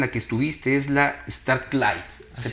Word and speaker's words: Strathclyde: Si no me equivoco, la universidad en la que estuviste es la Strathclyde. ¿Se pronuncia así? Strathclyde, así es.